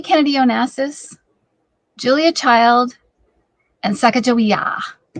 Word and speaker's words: Sacagawea: They pronounce it actually kind of like a K. So Sacagawea.